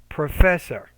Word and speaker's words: professor: say the professor so professor needs to be stressed the second syllable make that sec or that yeah that second syllable clearer louder longer and higher pitch so professor create between substitute and